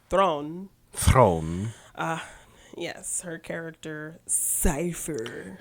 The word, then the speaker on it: Theron: Charlize Theron which is that's how you really pronounce it is thrown from yes her character